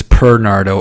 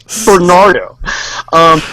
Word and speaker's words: Bernardo: I need to spell it for people so they don't think it's Pernardo or Nernardo or anything weird like that. So, you know. Yeah, it's Bernardo. Nothing weird. Bernardo.